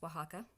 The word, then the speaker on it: Oaxaca: that spelled Oh a ex-ac and yes it's pronounced Oaxaca and these mountains are the lovely things that